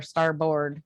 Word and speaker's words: starboard: like bird, like Yeah. starboard, even though it's spelled differently. Okay, got it.